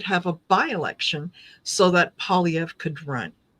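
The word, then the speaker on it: Poilievre: How do you pronounce his name? Polyv. Polyv.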